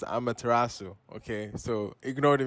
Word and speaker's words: Amaterasu: hear in the video you hear me say amateur about this area like it's on eurovision or something but uh this is actually pronounced amaterasu okay so ignore the mispronunciation in the video